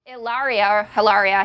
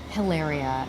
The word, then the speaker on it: Hilaria: It's not Hilaria. It's not Hilaria. It's not even Hilaria. There is no H. There's no H. So pretend there's no H. It's Okay. Hilaria.